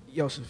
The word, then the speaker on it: Yosef: And keep that energy going for Yosef. If I'm pronouncing that correctly. Yosef, yeah, you got it right.